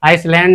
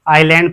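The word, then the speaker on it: island: इसे हम आइसलैंड नहीं पढ़ते। इसे हम आइलैंड पढ़ते हैं। ठीक है? इसे हम आइलैंड पढ़ते हैं। यहां हमारा एस साइलेंट हो जाता है।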